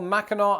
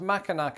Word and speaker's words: Mackinac: Like, for example, Mackinac Island, which is not pronounced Mackinac Island.